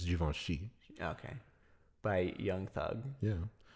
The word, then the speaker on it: Juventus: it juventus the song he says it javinci but i think the pronunciation is juventus okay by young thug